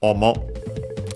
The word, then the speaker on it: omo: literally a compound from omo. We have seen it before, because we have seen it before, I think in this very series, this adjective. Omo, on the accent on the first syllable, means face, also surface by extension, also mask.